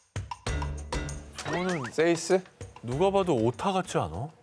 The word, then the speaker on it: 6: 발음은요, 스페인어로 6을 뜻하는 세이스입니다. 저거는 세이스?